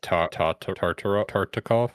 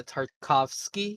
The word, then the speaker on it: Tartakovsky: Genndy Get- Tartakov? Yeah, Tartakovsky.